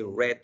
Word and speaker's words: read: read is present symbol the same word different pronunciation we say red red thread so read i read i read in the past i have read in the present perfect i had read in the past perfect so we say read read read but we write it same thing but we pronoun pronounce it differently according to the context okay we have re